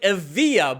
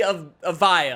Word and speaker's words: Evija: Since this car is an all-electric hypercar, I always thought it was like Evija, but apparently Evija.